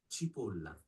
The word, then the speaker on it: Cipolla: Chipola. Chipola. So we're full tilt Italian.